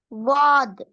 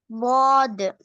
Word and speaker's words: ضاد: துவாட sound வரணும். துவாது. அதாவது தால் என்ற எழுத்தை நாங்க வானத்தை நோக்கி உச்சரிச்சோம் என்றால் சரி. போட்டி பாருங்க. த என்ற சவுண்ட் அல்லது அல்லது தாலினுடைய சவுண்ட் இதை நீங்க வானத்தை நோக்கி உச்சரிச்சா சரி.